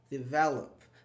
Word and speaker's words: develop: on the thir syllable when I say develop thech is on the V here it's in the middle develop listen here it's not